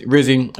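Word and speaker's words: Rizzi: He said, my vote for head coach rhymes with Fizzy. Obviously, Darren Rizzy.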